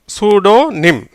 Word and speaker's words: pseudonym: சூடோனிம் எப்படி உச்சரிக்கப்படுகிறது?